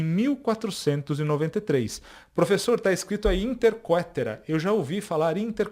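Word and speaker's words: Inter caetera: Professor tá escrito aí Inter quetera Eu já ouvi falar Inter quetera pessoal não tem problema nenhum tá isso aqui é latim mas a a pronúncia correta é interca mesmo tá bom o que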